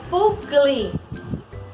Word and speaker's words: Paul Klee: qual é o artista professora pool clean a pronúncia é pool clean então full clean ele nasceu em berna na